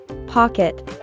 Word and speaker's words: pocket: Note that the O is pronounced as an aw sound. Aw. Pock. While the E is pronounced with a short eh sound. Pocket.